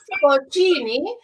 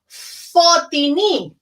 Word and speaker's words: Fortini: your name for futini you are saying for genie if you can try and have a scottish accent and say fortini uh uh oh hang